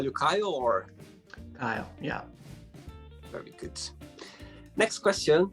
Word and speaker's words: Kyle: had in high school so keely uh the way my name is actually pronounced is kyle kyle oh sorry that's okay